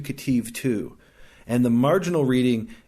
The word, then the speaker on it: Ketiv: And we call this the Qere Ketiv. Qere is spelled kind of weird.